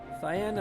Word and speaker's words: Cyan: Cyan? I always pronounce it cyan. But I think it's also how people call it cayenne. For the color. I'm pretty sure C and Y spell Psy, like cyclone.